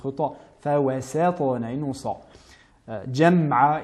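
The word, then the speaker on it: جمعا: Jam'a et non jama'a.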